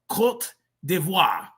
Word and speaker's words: Côte d'Ivoire: It's pronounced Côte d'Ivoire.